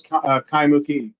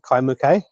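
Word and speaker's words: Kaimukī: Do you know how do you pronounce Kaimuki? Is it Kaimuki or Kaimuki? I've always pronounced it Kaimuke.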